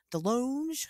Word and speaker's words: DeLonge: Is it DeLong or DeLonge? How do you say his fucking name? DeLong.